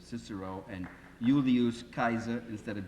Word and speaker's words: Cicero: agar agar publicus I'm our pronunciations of Latin by the way is heavily compromised by English I mean I I could probably satisfy some Latin purists here if I talked about kikero instead of Cicero and Julius Kaiser instead